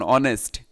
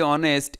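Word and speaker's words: honest: হয় যে এটা এমন অনেস্ট, এইচ এর উচ্চারণ নাই। এই যে অনেস্ট, এ ও এর মতো হয়েছে, তাই হচ্ছে যে এখানে অ্যান বসেছে।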